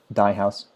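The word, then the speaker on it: Dey House: in the Writers' Workshop, which meets at the Dye House, which is spelled D-E-Y.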